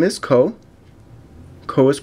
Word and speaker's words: Koh: okay so it says hello my name is co co is pronounced Co I lived in Georgia for 4